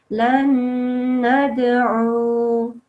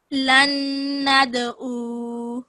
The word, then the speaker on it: لن ندعو: So qaf, ta, ba, jim, dal are all kalkala letters if they have a sukoon on top. So this one does. So you say it with a jumping sound.